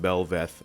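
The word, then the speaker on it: Bel'Veth: Belveth, I believe is how you pronounce that, by June 9th.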